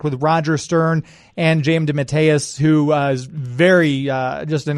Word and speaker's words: DeMatteis: And he stayed on for several issues, and then if I might correct your pronunciation, excuse me, Mark DeMatteis, or J.M.